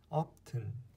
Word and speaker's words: often: 그 다음에 이거 often 아니죠. often often 아니고 often 네.